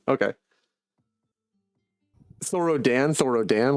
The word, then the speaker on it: Thorodin: Thoro Thoroden. Okay. Thorro Dan. Sorro Dan. Like the A. Yeah. It's like Dan, but it's pronounced like Den.